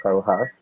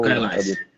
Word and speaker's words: Kaelhaz: O nosso convidado de hoje é o, que é também conhecido como Carl Haas. Pronunciei certo? Que é o Ou Kailash. Kailash. Pronto.